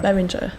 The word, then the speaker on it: Behringer: Is it Behringer? Yeah. Is that how you say it? Yeah. Behringer.